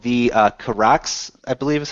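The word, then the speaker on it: Kihraxz: This is called the Kirax, I believe is how you pronounce that, K-I-H-R-A-X-Z.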